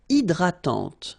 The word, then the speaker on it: hydratante: Une crème hydratante. So remember, H is not existing, and then this Y is pronounced like E. hydratante. Okay, don't insist on the final E, and this is nasal. Hydratante. Un coupe-ongle.